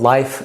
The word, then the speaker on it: LIYF: superior multiple digestive enzymes called life sign is spelled l iy F which is an acronym that means life in your food we're trying to help